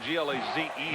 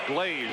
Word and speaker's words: Glaze: A couple of years ago, I thought when I did him it was Glaze, but it's now Glaze. So if you are familiar with him, I want you to understand that that's the pronunciation.